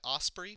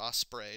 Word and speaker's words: Osprey: thing it's published by ospre publishing or Osprey depending on which pronunciation you want to use which uh if